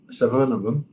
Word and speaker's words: Suvarnabhumi: Suvarnabhumi Airport.